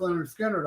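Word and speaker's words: Lynyrd Skynyrd: It may be better on vinyl, but I got I was listening today pronounced Leonard Skinner on on CDs.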